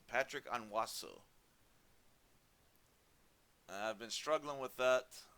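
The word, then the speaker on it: Patrick Onwuasor: touchdowns defensively i finally found out how to pronounce his name patrick onwasso i've been struggling with that uh this whole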